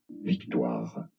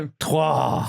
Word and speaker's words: Victoire: The name in France it is pronounced as Victoire. Victoire. right. You were. The first time. Victoire.